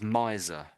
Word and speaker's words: miser: So we say this as miser, a miser, miser. Miser. Yeah. So it's more the Yeah, Z sound.